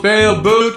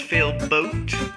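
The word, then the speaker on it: Failboat: maybe now you could pronounce my name as fail boat like how it is instead of fail Boot and maybe stop calling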